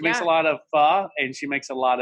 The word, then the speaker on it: pho: a lot of pho, and she makes a lot of and you say it correctly, but when someone says it incorrectly here, especially in Alabama, they'll say pho or whatever.